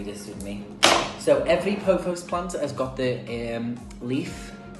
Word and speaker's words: pothos: I think I'm saying that right, pothos. I'm just going to say pothos. Google says it's pronounced pothos, but I think that's something a bit different, don't you?